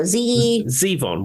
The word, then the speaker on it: Zevon: Zevon.